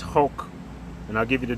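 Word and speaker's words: חֹק: All right, so it's pronounced Hulk.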